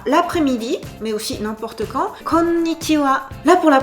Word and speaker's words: konnichiwa: Et notamment, il y a une chanson, Shudaika Girls no Uta, dont les paroles sont Yoshie no Uta de konnichiwa. Là, vous entendez bien. Konnichiwa. 5 syllabes.